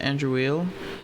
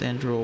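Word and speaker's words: Andruil: for Andre andr petitioned I always pronounced it andreil and then everyone kept saying andrel in that cut scene so now it's andrul which is like worse cuz it sounds like drool like drooling Andrew positions on my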